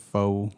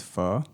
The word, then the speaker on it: pho: heard of fur um some people pronounce it foe or something like that but it's fur do they say pho